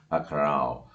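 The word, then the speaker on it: עקרב: र के उच्चारण पे फिर एक बार आपसे गौर करने को कहूँगा, थोड़ा अंदर से आवाज़ निकाले, अखराव।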